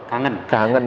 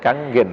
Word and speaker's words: Kangen: Saya nyebutnya orang Jawa sih, kangen itu ya. Kangen water. Karena seorang Jawa baca tulisan gitu bacanya kangen. Harusnya bacanya kanggen ya.